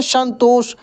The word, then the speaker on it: संतोष: से ठीक है ना तो ये वाला उष्मीय श है इसका उच्चारण अंदर से निकलता है श श तलाब का